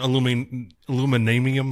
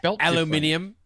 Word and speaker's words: aluminium: aluminum or whatever the you say. It's aluminium.